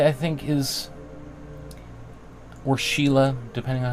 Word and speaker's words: Schiele: U, but you can see like this image by David Bowie is directly inspired by the work of Egon Chile, right?